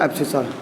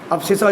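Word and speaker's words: abscissa: ठीक है, तो the coordinate of x is called एब्सिसा। ठीक है, जो भी है स्पेलिंग कुछ भी लिखूँ आप देख लेना, बस एब्सिसा समझ जाना, इसको एब्सिसा बोलते हैं।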